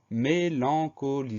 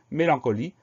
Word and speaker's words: mélancolie: Et enfin, dernière syllabe, li, L-I-E. Donc là, on a une lettre muette, le E qu'on n'entend pas, qui se justifie parce